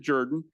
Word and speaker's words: Jordan: By the way, we do pronounce it Jordan.